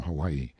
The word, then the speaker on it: Hawaii: off mounted on my Noble Steed Hawaii pronounced how y e stress on second syllable a beast that cost